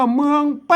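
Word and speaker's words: เมืองแพร่: ครับ แม่ ๆ เมือง อ่าน ว่า เมือง แป้ นะ ครับ เมือง แปร ไม่ ใช่ เมือง แพร่ นะ ครับ แหม่ เมือง แป้ นะ ครับ ต้อง ใช้ หลัก การ ภาษา ล้านนา แล้ว ก็ มา นี่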